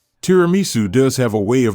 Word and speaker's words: tiramisu: The sweet dessert we've prepared to go with today's coffee is tiramisu. Just looking at it makes me want to eat it. The correct Italian pronunciation is dramu.